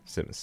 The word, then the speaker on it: Simmons: Is it Simmons or Simons? It's Simmons, right? Simmons.